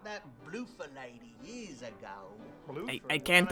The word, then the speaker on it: Bloofer: Bloofer. This is actually canon from the Dracula novel. Bloofer lady equals a young poor person's way of pronouncing beautiful lady.